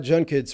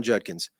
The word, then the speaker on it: Judkins: And the number of times you will hear it come out, Quinshon Judkins. You hear that Judkins with an N? It's unbelievable. We cannot say this simple 2-syllable last name.